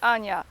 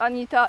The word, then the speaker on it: Ania: just want to say my name is Ana a n i a not J not y not something else and it's not Anita it's Ana so when you look